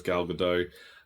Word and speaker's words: Gadot: Alicia Silverstone I say galgadot cuz I saw her in an interview once and she was asked how you say her name and that's how she's basically said it she pronounces the T basically um but yeah a